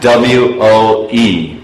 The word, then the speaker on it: whoa: But English, W-H-O-A, woe. W-O-E, woe.